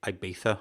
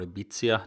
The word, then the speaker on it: Ibiza: in a place called ibiza or ibiza depending how you pronounce it in spain and